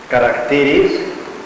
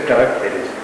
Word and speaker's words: caracteres: Y ojo, no es caracteres, es caracteres.